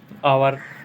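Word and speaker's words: hour: Honesty, honorary, air, आवर, इन सब में H silent होता है।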